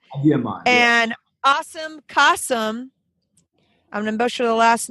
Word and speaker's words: Kasim Siddiqui: Adie mine and awesome kasam I'm gonna butcher the last name Siddiqui how you guys say it say it correctly so my name is Arriba demon and I'm Qasim nice there we go